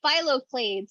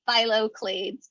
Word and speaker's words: phylloclades: Oh, phyloclades, and so that is spelled PHYLLOCLADES. So phyloclades.